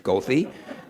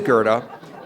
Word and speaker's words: Goethe: the CTA bus drivers routinely mispronounces gothy but it is Gerda and I think he